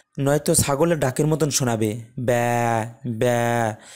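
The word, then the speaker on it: ب: এর হরফটি চিনতে পারব তো বা এর মাখরাজ যদি আমরা একটু বা এর মাখরাজ খোঁজার চেষ্টা করি তাহলে দেখব দুই ঠোঁটের ভেজা অংশ বা উপরের ঠোঁট এবং নিচের ঠোঁটের যে ভেজা অংশটুকু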